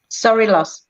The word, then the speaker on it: Sorilos: Is it pronounced Sorilos? Sorilos. Sorilos? Sorilos, yeah. It's Greek with a bit of Italian in it.